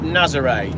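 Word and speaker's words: Nazaré: It's pronounced Nazare.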